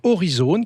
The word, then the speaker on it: Aurizone: Très simplement, il va vous falloir télécharger l'application Horizone, qui s'écrit AURIZONE.